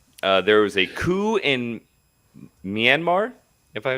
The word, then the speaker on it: Myanmar: February 1st, there was a coup in Myanmar, if I pronounce that correctly.